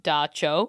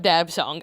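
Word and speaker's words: dab tsog: rituals to keep away dab song pronounced dacho. Okay. Well, that could have been helpful earlier. Dacho um instead of dabong.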